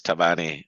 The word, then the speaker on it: Thabane: Uh is Tavani.